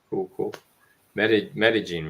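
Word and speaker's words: Medellín: pretty yeah metagene Buzz yeah thank you for correcting me in Columbia folks with a c o l m b i a not spelled like other Columbia almost like gajin you know instead of gajin you know in Japan you say metagene right metagene guys metagene but yeah um cool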